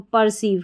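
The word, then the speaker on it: perceive: ई रिसीव रिसीव और जब भी किसी स्पेलिंग में पी पी ई आर आ जाता है उसको पर पढ़ते हैं। पर हमारा कोड हो गया और सीव भी तो पर्सव क्या बन गया? पर्सिव पी ई आर सी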